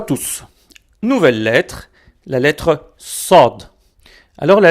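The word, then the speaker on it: صاد: Nouvelle lettre, la lettre SOD. Alors la lettre SOD est un S emphatique, prononcé avec emphase.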